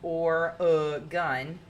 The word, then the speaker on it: Oregon: lake other unusual facts Oregon is known for being pronounced or uh gun and for growing 99%